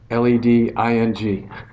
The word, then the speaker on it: LEDing: How many for leading? How many for leading? Okay, whatever. LED. LEDing! All right, I like that one.